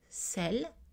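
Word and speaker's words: celles: c'est le fémina grammaticales selle selles la prononciation est identique masculin grammaticales celui ce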